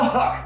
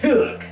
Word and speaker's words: Hükk: And I'm going to throw in the Hükk, because why not? I noticed you didn't pronounce it Hükk. It's Hükk. It's Hükk. Hükk.